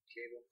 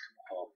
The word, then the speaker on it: Cabal: We know the Cabal, or Cable, however they want to say it. It's Cabal. Cable has a E.